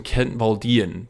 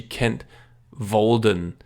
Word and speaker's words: Kent Walden: I have picked out something I feel is similar in spirit, which is Kent Walden's, even though people always pronounce him Kent Waldian, but I never see Kent Walden.